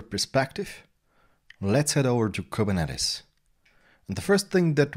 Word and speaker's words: Kubernetes: write kubernetes as k8s we will still speak about kubernetes or not k-8s says whatever you would pronounce it just say kubernetes and write it like